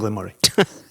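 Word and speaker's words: Glen Moray: Very simply, Lechig and Glenmurray.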